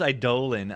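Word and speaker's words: Eidolon: Pronounce Idolan. Idolan. Idolan. Correctly. I know. That's how it's said. I don't like it, but that's that's how it's said. That's how the card is said.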